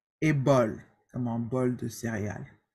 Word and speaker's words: bol: Except with the letters, with the consonants, C, R, F, and L. Okay? With these consonants, we do pronounce them. For example, bec, bar, bref, et bol.